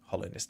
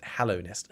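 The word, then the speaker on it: Hallownest: Yeah, I was saying it wrong. I was saying Hollow Nest. Hallow Nest.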